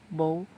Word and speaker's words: Bow: the bansi or The Bow as she is always known in wxp ang babae siya the name bow ah bow ang pangalan niya rhymes with no Okay bow comes from